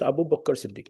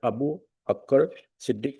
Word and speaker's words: Abu Bakr Siddiq: This is Abu Bakr Siddiq, not Abu Akkar Siddiq, my lord, which is spelled in 1971.